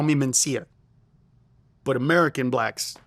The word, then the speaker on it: Mencia: lot, by the way, say my name with two N's instead of Mencia, are African Americans. African Americans, in a decent portion of them, will say Carlos Mencia, Carlos Mencinas, not Mencia.